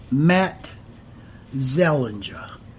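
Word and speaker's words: Matzeliger: was jan and his last name is prince pronounced matt zellinger jan matt zellinger m a t g e l l i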